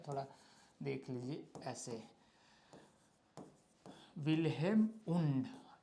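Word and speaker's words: Wilhelm Wundt: हैं, विल्हेम नाम है इसका, इस तरीके से स्पेलिंग होता है, थोड़ा देख लीजिए ऐसे, विल्हेम वुंड।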